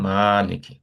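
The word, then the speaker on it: مالك: হুম, সেই যেখানে দেখেন, এটা যদিও ফাথা দিয়েছে, এখানে আবার একটা আলিফ আছে, তার মানে হচ্ছে যে এটা টান দিতেই হবে, মা।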